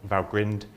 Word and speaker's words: Valgrind: things, Valgrind memory checker, Valgrind, I think it is normally pronounced, coverage checking, etc.